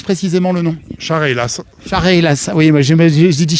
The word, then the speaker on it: Chareylasses: Comment on prononce précisément le nom? Chareylas.